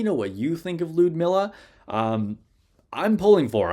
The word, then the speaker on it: Ludmilla: officially going with uh lude Miller although I understand that lud Miller is actually how her name is supposed to be uh pronounced even with just the U anyway we're going on